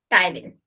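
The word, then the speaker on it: ptyalin: और इसका parotid gland का काम भी आप यहीं पे लिख लो, इट सिक्रीट टाइलिन। सिर्फ टी साइलेंट रहता है।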